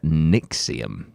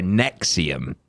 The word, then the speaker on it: NXIVM: going to start with one called nixium that sounds necks are a nexium but it's spelt nxi vm nice yeah classic um